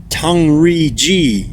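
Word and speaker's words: 唐人街: They also helped establish the Chinese term for Chinatown, Tong Yan Gai, pronounced as Tang Ri Ji in Mandarin.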